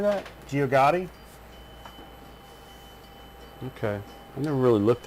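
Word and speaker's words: Geogaddi: Gio Gotti.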